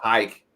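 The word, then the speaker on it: Huycke: It's H-U-Y-C-K-E is how it's spelled. But it's pronounced hike.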